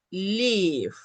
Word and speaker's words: live: Por ejemplo, el verbo live tiene live, una sílaba, ¿verdad? Es live. Casi la E no suena, live.